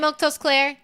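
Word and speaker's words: Milquetoast Claire: Anyway, uh, I'm Milktos Claire. That's how you say my name.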